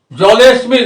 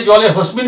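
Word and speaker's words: জলেঽস্মিন্: তা না ঠিকই আছে সম্বোধন বলে জলেসমিন অনেকে জলে হসমিন বলেন তাহলে কিন্তু না ওটা লুপ্ত আর ওটা হয় না ওটার উচ্চারণ নেই অশমিন জলে জলে অশমিন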